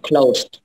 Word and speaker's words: cloth: Made of clothes. Made of cloth. Close. We pronounce cloth, okay?